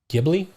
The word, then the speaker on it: Ghibli: But yeah, Miyazaki, Studio Ghibli. Ghibli? Ghibli. Okay. Ghibli. That's how the Japan works. The Japan words, that's how they say it.